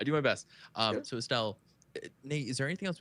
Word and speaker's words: Estelle: Is Estelle, right?